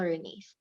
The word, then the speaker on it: Renice: Okay, Renice. Am I pronouncing it correctly? Yes, it's Renice.